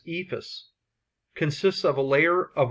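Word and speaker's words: EIFS: insulation and finish system abbreviated e ifs and generally pronounced as Eva's consists of a layer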